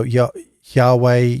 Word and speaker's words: Yahweh: Jehovah really comes about from the King James Version because they mispronounce they pronounce the Y as a J. So Yahweh, Jehovah, and then it became Jehovah.